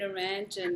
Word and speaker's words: Naranjan: I've got a relationship coach, spiritual guide, mentor, and teacher, Naranjan. Did I pronounce the first name correctly? You got it right, Roy. Naranjan, that's right.